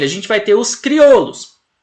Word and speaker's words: criollos: gente vai ter os criollos ou criou olhos né Lembrando que se escreve com dois elles Olha só c r